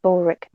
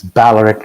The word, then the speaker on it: Balaric: I suppose I can't call you Bulric, officially part of the crew. I'd prefer you didn't, especially since that's not how my name is pronounced. Oh? Yes, it's Balaric. It's actually a vowel sound.